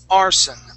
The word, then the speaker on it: arson: new word for you the word is arson okay so that s is going to be a voiceless s arson arson Aron good now